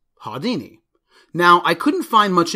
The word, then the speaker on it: Haudyni: some might pronounce Hadean E as ha Dini because of the Y as in dynamite but in Germany it would probably be pronounced hiya Dini now I couldn't find